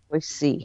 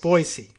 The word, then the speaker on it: Boise: C oh really okay it's an S not a z all right that's a good local pronunciation tip I always appreciate those so let me try that again you give it to me again boy just boyy but you're not changing the emphasis it's just the S not Z okay yes all right